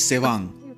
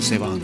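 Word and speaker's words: Tsewang: The man's name is Sewang, spelt with a T.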